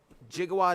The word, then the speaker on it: Gigawatt: snom did i get gigawatt yes i did or more correctly pronounced gigawatt because that's how it's pronounced in the movie i did jigawad is super cool i